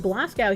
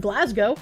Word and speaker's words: Glasgow: Resident of Glasow here. It's pronounced Glasgow. Your pronunciation wounds me.